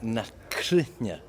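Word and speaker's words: Na Cruithne: So the proper pronunciation of the band is Nakrunya, Yeah.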